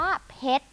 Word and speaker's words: เพชร: นัก เรียน อ่าน ว่า เพชร นั่น เอง ค่ะ เด็ก อ่าน ได้ อยู่ แล้ว ค่ะ นี้ จะ เด็ก น่า จะ ยัง ไม่ ทราบ ว่า อ้อ รอ เรือ ไม่ อ่าน ออก เสียง แล้ว ก็ ชอบ เขียน